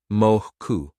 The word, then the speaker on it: mocha: Mocha. Mochu. Say it with a soft O, not matcha or macha.